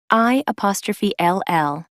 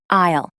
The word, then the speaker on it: I'll: for ages pronunciation pointer I ' ll is pronounced isle it's not pronounced ill as in I'm sick I need to go